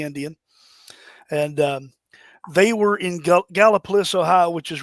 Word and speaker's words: Gallipolis: 7 in Gallipolis, or for the out-of-towners, they call it Gallipolis, but it's actually pronounced Gallipolis. That is the actual way to pronounce that.